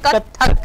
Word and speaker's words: कथक: कथक dance, कथक, इसके pronunciation कथक है। यस, कथक।